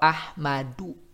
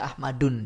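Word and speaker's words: أحمدُ: Hadara Ahmadu, tak bisa Ahmadun dia. Ahmadu. Nah, tanwin atau nun sukunnya itu dibuang, tidak diucapkan.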